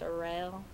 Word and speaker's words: Cheryl: people call her Charelle it's spelled like Cheryl but it's pronounced Charelle you know um that's